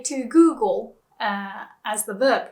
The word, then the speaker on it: Google: In Japanese, we would use the R sound instead. So, Google, that L sound becomes Google. So, although it's a bit slangy, you can say to Google as the verb, right?